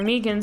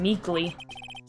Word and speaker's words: Meekins: for it actually officer Meekins at the Detention Center told us ah that poor little doggie poor guy I keep getting his name wrong and calling him meekly I mean almost correct he told us